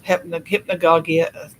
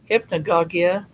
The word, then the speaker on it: hypnagogia: might be, sleep paralysis, hypnagogia. Hypnagogia. It should be hypnagogia, actually, by the way it's spelled.